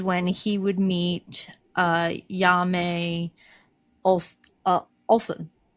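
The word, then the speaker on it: Janne: But cuz it's Swedish, it's pronounced Jan E. Jan E., okay.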